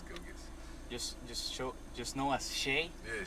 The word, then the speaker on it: Gilgeous: It's not Gilgeous, it's Gilgis.